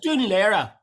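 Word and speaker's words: Dún Laoghaire: Dunleary. Huh? Dunleary. But it's Dunlera. Dunlera. It is. It's spelled Dunlera. Why do we call it Dunleary? I've been calling it Dunleary.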